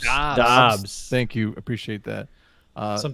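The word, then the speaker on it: Doubs: Is that how you pronounce it? Romeo Dobbs. Dobbs. Thank you. Appreciate that. Some people he sounds want like it he's to had be a lot Doobs.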